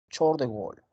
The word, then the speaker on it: Charles de Gaulle: Se escribe Charles de Gaulle, pero se pronuncia Charles de Gaulle. ¿Ah? Ahí está, Charles de Gaulle.